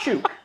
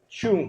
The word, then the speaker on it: Chung: It's not Chuk. no, it's pronounced chunk. Chung.